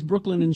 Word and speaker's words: Brooklinen: I need to say it right so it doesn't sound like I'm saying Brooklyn. That's confusing because the founders are from Brooklyn.